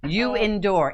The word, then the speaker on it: You Endure: You endure. It's a play on the word. Like you got it. And endure.